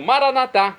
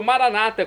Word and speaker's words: Maranatá: E agora eu clamo, Maranatá, como dizemos nós católicos, ou Maranata, como dizem nossos irmãos separados, evangélicos ou protestantes. Não importa, a pronúncia, o significado é o mesmo.